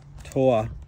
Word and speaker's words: Torah: you take the law Torah tah I don't think you pronounce the r and then all of